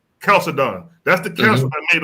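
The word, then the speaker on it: Chalcedon: of that council of Chald and how you pronounce it when Caledon that's the council that made him flee into Ethiopia.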